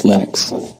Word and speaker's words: Linux: When I speak English, it's Linus. And I really don't care how people pronounce my name. But Linux is always Linux.